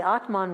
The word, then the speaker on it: Atman: and then the Soul the Atman with a short a is identified with something